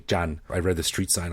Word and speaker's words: Chan: my mind was along Jan Road um it's it's spelled c h an in English which a lot of people say Chan but it's actually Jan I read the street